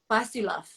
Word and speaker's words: Pastiloff: am I pronouncing your last name correctly? Pastiloff? Yes. Pastiloff.